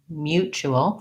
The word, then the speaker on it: mutual: same u sound mu this t says the ch sound mu o and then we have a dark l with a schwa if i were to write that mutual first syllable stress to rewrite that with